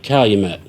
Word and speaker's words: Calumet: Sounds like Calumet. Sounds like a cow you met.